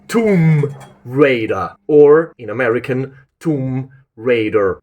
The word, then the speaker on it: Tomb Raider: Tomb Rider is not the right way of pronouncing that game. That game is pronounced Tomb Raider or in American Tomb Raider, but not Tombbrider because that's really weird.